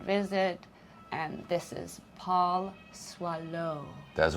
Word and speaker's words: Soileau: So swallow. Swallow. Mhm. Really? We both have crazy last names spelling wise. Okay. But yes, it's French. It's um Cajun French. So. S O I.